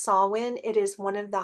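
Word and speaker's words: Samhain: both of those decks this one is called sawin see how it's pronounced there if you can read backwards that is pronounced sawin it is one of the high holy days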